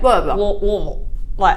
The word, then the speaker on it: Louisville: But it's actually like the less you pronounce, the better. So like Louisville. My tongue's out the entire time. It's the further back in your throat and the less consonants you could put on there, the better.